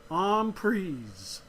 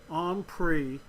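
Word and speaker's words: en prise: a French word which means intake and it's pronounced on pries however the Americans as we tend to do we take a word and we make our own and most americans pronounce it on pre even though it is really supposed to be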